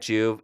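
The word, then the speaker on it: Joovv: And the way to look at Juve is like a light supplement.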